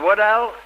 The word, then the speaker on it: Waddell: Mrs. Waddell, is that the way you pronounce it? That's right. Waddell, huh?